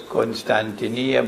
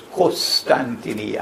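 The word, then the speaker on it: القسطنطينية: goes on to say I pronounce it as constantineer but in Arabic they pronounce it as costantinia of course not good constantinia is closer to the original but in Arabic they say costantinia why would the conquest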